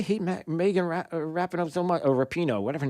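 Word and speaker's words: Rapinoe: the sports networks know why uh megan rappano repino how do you say her name is it repino yeah megan rapino she's one of the most outspoken members of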